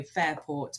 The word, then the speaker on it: Fairport: You can find me on LinkedIn, or if you look onto our website, so Fairport, which is spelled Fareport. So it's an amalgamation of Fareham and Portsmouth.